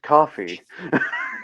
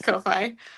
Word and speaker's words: Ko-fi: pronounced coffee. Oh, yeah, it's Ko-fi.